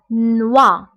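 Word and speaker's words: noix: دونك هنا نوا نوا. بالنسبه هنا اكس لا ننطقها.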